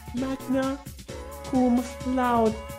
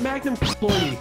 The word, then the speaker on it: magna cum laude: No, it's not magnum cum laude.